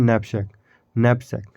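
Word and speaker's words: knapsack: उसे क्या कहते हैं उसे कहते हैं nepshyak की यहां पर साइलेंट इन अन पूछ जैसे अपने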